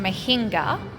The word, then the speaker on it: mohinga: Okay, I am trying mohinga. It's pronounced mohinga, yeah?